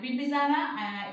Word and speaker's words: Bimbisara: Remember how to pronounce him. And Bimbisara, he was the contemporary of Gautam Buddha.